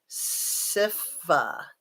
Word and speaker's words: Sifa: And Sifa says, well, then, since you say that, I'll let you know my pronunciation is actually Sifa.